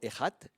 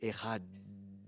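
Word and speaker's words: אחד: Et disent les rabbins, il faut souligner la prononciation. Le terme hébreu veut même dire étendre la prononciation, allonger la prononciation. Donc c'est euh c'est pas simplement ehad, c'est ehad.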